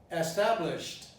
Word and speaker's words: established: Established entails a problem because the initial E at times was not pronounced, and also it was mispronounced at the end of the word, which should be established, ending in a T, as, for example, promised or blessed. Have the E, but the E is not pronounced, and the D is pronounced T.